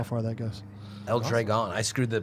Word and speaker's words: Dragon: El Dragon. I screwed the pronunciation up, so that's the correction. I want to make sure we get it right. Dragon.